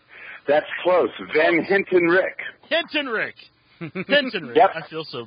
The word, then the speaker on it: Van Hentenryck: And we He's got a hard last name to pronounce, but it's Van Hentick. Is that right? That's close. Van Hintenrich.